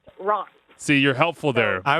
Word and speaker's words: Reims: You didn't say the town that I'm in, and it's Reims, France, but it's spelled Reims. That's pronounced Reims.